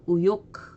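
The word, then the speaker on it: 右翼: 좌우일 때는 사유 들어가고 우익일 땐 그냥 우 해서 우요크 이렇게 읽어줍니다.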